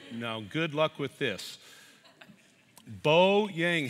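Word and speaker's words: Beau: world folks so now good luck with this bo yang how do you really say your name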